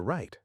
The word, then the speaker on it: right: It will be on your right. Right also has a silent g h.